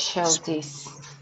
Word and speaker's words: specialties: specialties. Specialties, specialties. The accent, Specialties. the pitch level is here. Specialties.